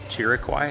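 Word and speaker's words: Chiriquí: Chiriquai, I think is how it's pronounced.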